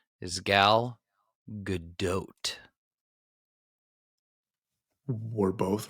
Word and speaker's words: Gal Gadot: The correct pronunciation is Gal Gadot. We're both wrong? Yes, correct. We are both wrong. Okay. There's a D in there? It's like doubt.